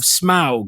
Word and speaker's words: Smaug: Now this one is called the Desolation of Smaug.